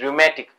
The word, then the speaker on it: rheumatic: Show cause काय, rheumatic fever, its pronunciation is rheumatic.